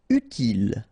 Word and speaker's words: utile: Utile, final E not pronounced, utile.